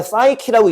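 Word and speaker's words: psyche: 3번 맨 사이키라고 읽는 거고 마음, 정신, 그러니까 soul의 뜻이야.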